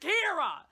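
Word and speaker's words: Qi'ra: When you spell it Kira, Q-I apostrophe R-A, you're like, ooh, that's some funky Star Wars. No, it's not. It's just Kira.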